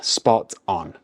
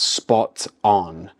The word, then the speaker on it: spot on: with spot on then spot on firstly notice the pronunciation we mix the two words together to sound more natural so it's not spot on its spot on spot on okay spot